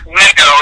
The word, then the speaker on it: Lego: cuz it says you know what it's not pronounced Legos their Lego blocks so like all they did